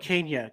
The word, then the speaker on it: Kania: can correct me if I'm saying your last name wrong Tyler Kane Kenya yep Kenya Kenya okay I was thinking that the first